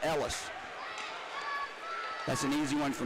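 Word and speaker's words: Eelis: Ellis spells his first name E-E-L-I-E-S, but pronounces it Ellis.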